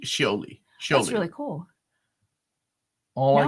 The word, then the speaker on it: Scioli: Oh, how do you pronounce his name? Scioli.